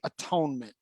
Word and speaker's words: atonement: When it's not actually atone, it's not, it's at one ment.